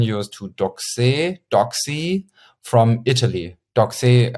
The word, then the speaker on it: Doxee: Doxy, I pronounce it Doxy because I thought Italian, and because it's written Doxee.